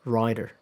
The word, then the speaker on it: rider: Second one, rider. Writer, rider. So, there's a difference. There is a difference in vowel length. Um the vowel in rider is a little longer.